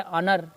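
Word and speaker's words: honour: देखिए जैसे कि इसको हम क्या पढ़ते हैं, एन ऑनर, एच भले लिखा है लेकिन एच साइलेंट है तो क्या आ गया, ओ आ गया, ऑनर।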